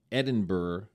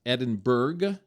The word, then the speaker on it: Edinburgh: And from London, we went to Edinburgh, Scotland. And it's not Edinburgh, even though it's like Berg, B-U-R-G-H.